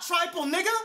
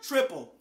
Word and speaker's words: Tripel: not built for it honey orange trifle no not trifle triple my thing I've hear a lot of people saying trample the pronunciation but this type of beer is a triple but anyway New Belgium